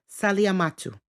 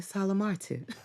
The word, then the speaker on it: Salamatu: The name is a Mandingo name, a Muslim name that should be pronounced Saliamatu. However, my family decided to westernize it by saying Salamatu.